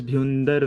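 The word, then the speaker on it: Bhyundar: It's pronounced as Bhundar Valley.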